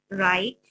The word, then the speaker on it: write: Then, in the next line, write handwriting pattern. H, A, N, D, hand. W, R, I, write. W is silent. It's not producing sound. Write.